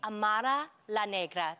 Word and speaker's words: Amara La Negra: Okay, so how did you come up with your stage name, Amara La Negra?